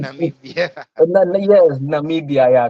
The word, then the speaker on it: Namibia: and also in Namibia, I think Nambia. Oh, I can't pronounce the country well, but I'm sorry for Namibia, it's Namibia.